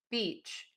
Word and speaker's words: beach: So just watch the long E and then the short I. So if you're saying the word beach and you don't move your lips as much, you can even hear with me, it's a little bit closer to that short I sound. So really move those lips for that.